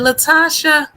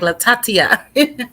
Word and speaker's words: Latasha: i say it right is it latasha yes ma'am latasha i always want to just chop it up since the first time i saw your name i'll be like la tatia i'm so sorry it's